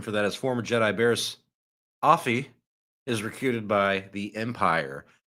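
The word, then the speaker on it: Barriss Offee: So let's move on to homegirl Barris, Offee, Barris, Offee. Barris Hottie. I is believe what we're gonna call it's her. Barris Offee, I believe is the correct pronunciation.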